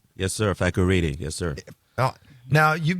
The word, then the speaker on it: Fakorede: Fakorede. Did I say it right? Yes, sir. Fakorede.